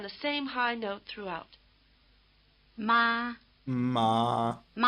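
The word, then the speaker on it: 妈妈: By the way, the weak second syllable in mama is not in one of the four tones. It's said to be toneless or in the neutral tone.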